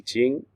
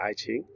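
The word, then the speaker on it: I Ching: and literature um including the iching or sometimes uh in in English mispronounced as the iing right uh the the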